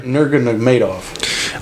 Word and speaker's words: Nurmagomedov: Nurmagomedov. Oh, you're pronouncing that right. Boy, a lot of syllables in that, huh?